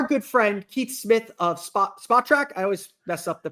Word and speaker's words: Spotrac: And I am joined now by our good friend, Keith Smith of Spotrac. I always mess up the pronunciation. You got it. Spotrac.